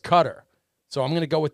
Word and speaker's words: Qatar: it's in Qatar not quitar it's Qatar a military guy said that it's pronounced cutter so I'm gonna go